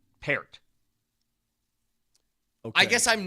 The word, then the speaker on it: Peart: don't know the drummer of Rush, here's the pronunciation of the Bronco in question. Here with a newly signed tackle, Matt Pert.